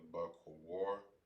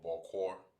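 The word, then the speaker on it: בוקר: Morning in the Hebrew is pronounced as bakor. Or bakor. Alright, so morning in the Hebrew is pronounced as bakor.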